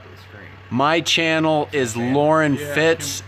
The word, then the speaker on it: Loren Fitts: It's Loren Fitts, LorenFitts.